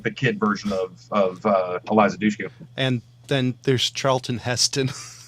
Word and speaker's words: Eliza Dushku: I can never pronounce her freaking name. Eliza Dushka? Yeah, yeah. Eliza Dushku.